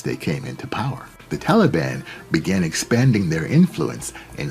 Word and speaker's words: Taliban: america these students or taliban as it's pronounced in the pashtu language became prominent in the